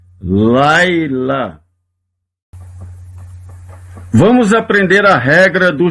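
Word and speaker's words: לילה: Laila. Laila. Não lê o som do shevá.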